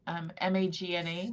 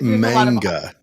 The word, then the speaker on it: manga: It's not tranime, but it's called MAGNA, Magna, I think is how you pronounce it. Magna. Okay. Magna, like the city. So, there you go. But no, it is a. I think it's manga. Manga, that's it.